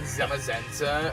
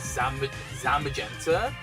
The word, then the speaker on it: Zamazenta: Don't even got angry at you for saying Zamazenta as Zam Zamagenta when SH released Zam Magenta.